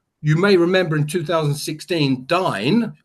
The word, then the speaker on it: Dyn: You may remember in 2016, Dyn, I pronounce it Dyn or Din, whatever you want to do, now owned by